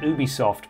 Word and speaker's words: Ubisoft: game yeah sandbox Studios we pronounce it Ubisoft because that's how they say it in France is from this though